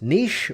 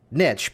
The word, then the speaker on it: niche: II is it pronounced nish or is it pronounced niche and really the preference is the word niche because it rhymes with rich and what you're going